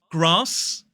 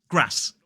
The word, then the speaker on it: grass: bath in the north grass r that long R vowel sound in a modern British RP accent grass in the north and fast in a